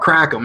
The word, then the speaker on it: kratom: Brian says, what's kratom? It's spelled a K and an O. Kratom, as the French say, or people trying to sound French. We say kratom. We call it crackum, actually, but kratom.